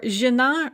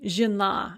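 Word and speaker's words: жена: Or žena, žony, that yo in žony, when it is not stressed, becomes a yeah, and that yeah is pronounced as an e, žena.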